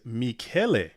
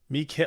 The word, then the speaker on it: Michele: all right, so LL says the correct pronunciation is Michele. Michele. Oh yeah, that's right, Michele. Michele. Okay, because like Sheshikoki, it's the ch is like the k sound.